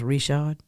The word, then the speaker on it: Richard: that Cajun last name looks like Richard but pronounced Richard Ron well listen uh